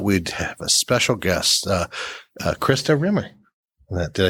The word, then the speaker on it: Christa Rimmer: 14 we thought we'd have a special guest Krista Rimmer did I say your name right oh my